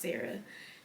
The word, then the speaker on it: Sarai: I know it looks like Sarai, but she stated that her name is pronounced Sarah.